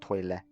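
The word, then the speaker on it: トイレ: one see toilet again it's katakana but it's not the same as english so try and make an l sound at the end of it like toilet and so the toilet is toilet so you miss out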